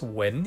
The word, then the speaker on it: Wen: Third on the list is Atelier Wen, or pronounced as Wen in Chinese, a brand where Paris